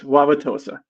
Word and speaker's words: Wauwatosa: Wauwatosa.